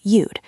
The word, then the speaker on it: you'd: You would becomes you'd. It sounds like the word you with a hard d at the end.